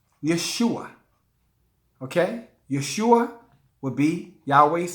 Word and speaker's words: Yeshua: In his original Hebrew name, or Arabic name, let me say it right, it's pronounced Yeshua.